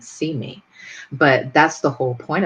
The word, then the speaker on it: CIME: it to cime and we pronounce that see me but that's the whole